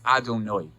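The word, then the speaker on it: אֲדֹנָי: hay and the hay it's not pronounced the way that it's spelled we pronounce it as adonoi alef dalid nunyud my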